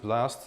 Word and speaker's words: BLS: BOST, you pronounce it BLAST.